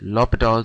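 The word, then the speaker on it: L'Hôpital: it is spelled um I mean it's written hospital but it's it's U pronounced hital I don't know but it's lital or hospitals rule um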